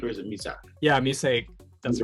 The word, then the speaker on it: Musaic: Yeah, Musaic.